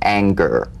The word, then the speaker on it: anger: whole word for instance this is the difference between the soft G and singer and the hard G in anger right for instance a singer sings but an anger doesn't ank right to the ER at the end of that word is meaningless in terms of the whole word that has a hard G so it would be